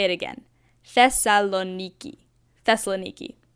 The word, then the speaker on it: Thessaloniki: a flight to our first destination in Greece Thessaloniki now this might just be me but it took me like a week to learn how to pronounce this so I'll say it again thessaloniki thessaloniki it's not that hard we landed around